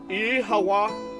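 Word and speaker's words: Oíche mhaith: One dialect would pronounce it as Ihawa.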